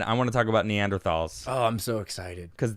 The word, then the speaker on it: Neanderthal: a latin thing to say so it is neanderthal it's like thule is tahuli right yeah a